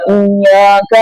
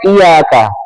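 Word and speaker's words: إِيَّاكَ: Enggak boleh dibaca iyaka. Enggak boleh. Kalau iyaka bermakna hanya kepadamu. Na'budu kami menyembah. Wad iyaka hanya kepadamu nastain kami mohon pertolongan. Tapi kalau seorang itu membacanya tanpa tasdid kalau iyaka hanya kepadamu. Tapi kalau iyaka itu bermakna asyams matahari.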